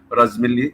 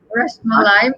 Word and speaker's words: Rasmalai: Inshallah, she will invite me to taste this Razmalli. You call it Razmalli? Am I saying it right here? And hopefully I'll get the biryani also. Okay, Rasmalai.